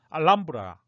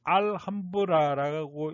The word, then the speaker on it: Alhambra: 그래서 도대체 왜 그러냐 하고 문의를 했더니 우리나라 이 맞춤법에서는 외래어는 그 나라 사람들이 발음하는 대로 그대로 쓰는 게 원칙이라고 하더군요. 그래서 얼마 전에도 제가 파파고에 넣어서 한번 돌려봤더니 과연 알람브라가 맞더군요. 그래서 앞으로 우리는 알함브라라고 읽지 말고 알람브라라고 통일해서 쓰고 또 통일해서 그렇게 읽어야 됩니다.